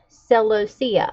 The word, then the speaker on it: celosia: But these are supposed to be annuals and not perennial, so I wasn't celosia.